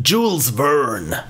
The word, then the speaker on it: Jules Verne: Jules Verne novel or Julian how you want to pronounce it I've realized that he's a French author but Americans tend to tend to Americanize everything and he is not Julian is Jules Verne the balloon rush embark